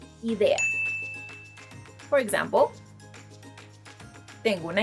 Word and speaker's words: idea: I know, once again, it might be tempting to pronounce it as it is in English because it's essentially the same word, but instead of saying idea in Spanish, we say idea.